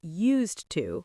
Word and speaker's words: used to: Yes, in positive sentences, it's always used to with a D. What about pronunciation? We say used to. The D sounds like a T.